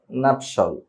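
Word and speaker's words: nuptial: বা নাপটিয়াল বলি যে যাই বলি বাট এটার উচ্চারণ হবে জাস্ট নাপসল নাপসল কি হবে নাপসল নাপসল তারপর আমরা এটাকে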